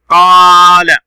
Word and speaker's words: قال: قال، لاحظ حرفه القاف هنا صوت طويل مد بالألف.